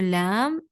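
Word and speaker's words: ل: to pronounce the lam and noon, basically what you have to do is you have to touch this part with the teeth that represent right next to it.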